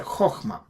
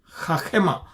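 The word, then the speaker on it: חכמה: this is qamats qatan, so you pronounce a chokhmah. Okay, not qamats gadol, which is a chachema. If it is a big one, then a chachema. Then if it is a small one, then a chokhmah.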